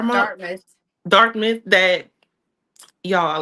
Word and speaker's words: Dartmouth: basically, you know, told um the students at Dharmmouth, is that how you say it? Dharmmouth. Dartmouth.